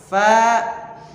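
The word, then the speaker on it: ف: masuk ke Fa naf fa fa Mat nah Fa itu cara bacanya adalah ujung gigi seri atas n Ging si nempel ke perut bibir yang bawah perutnya bagian dalam mirip dengan huruf F coba f f f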